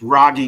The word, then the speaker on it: Rogge: got doing it's it's raggy done pronounced like froggy without the F I'm a sixth generation